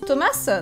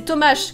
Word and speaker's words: Tomasz: Ça se prononce Thomas? Non, c'est Tomasz, comme un H, en fait.